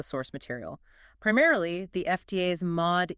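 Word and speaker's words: MAUDE: Primarily, the FDA's Mod E database. That's M A U D E pronounced MOD.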